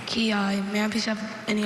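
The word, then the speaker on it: quillai: Kiai. Kiai. May I please have any alternate pronunciations?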